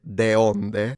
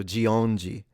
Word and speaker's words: de onde: If I read it, I would have read it deonde. So Geongi.